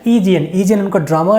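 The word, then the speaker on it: Aegean: इसका प्रोनाउंसिएशन क्या है? ईजीएन।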